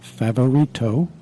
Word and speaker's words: Favorito: you've been listening to an interview of favarito did I pronounce it right perfectly and he is from